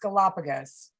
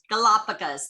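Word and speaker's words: Galápagos: okay thank you now i think it's pronounced galapagos galapagos thank you that's like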